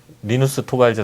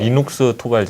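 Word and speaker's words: Linus Torvalds: 일단 틀린 매 용이 조금 있었죠 해외에서 뭐 리누스 토발즈 라는 대학생 이름은 이녹스 토발즈 라고 제가 발음할 수 없고 또 보통 그 ubuntu 닷컴은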